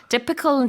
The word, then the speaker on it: typical: It's not typical, it's typical. 맞습니다.